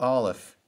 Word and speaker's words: Aleph: Let's begin with Aleph. It's the first letter of the Hebrew alphabet, and it is silent in its pronunciation.